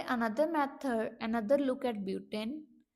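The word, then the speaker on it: but-: BUT इसका spelling होगा, इसको बट नहीं बोलना, इसको ब्यूट बोलना है, ठीक है।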